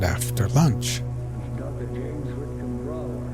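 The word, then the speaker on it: Brougher: James Whitcomb Brawler. Brawler, huh? It rhymes with B-R-O-W-E-R. Why do you have that G-H in there?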